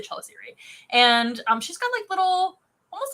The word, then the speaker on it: chelicerae: Those are called chelicerae. Or chelicerae, however you want to pronounce that. I've heard both ways. I say chelicerae.